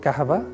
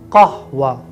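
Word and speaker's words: قهوة: No correct Arabic pronunciation is not kahava. Correct Arabic pronunciation is kahwa.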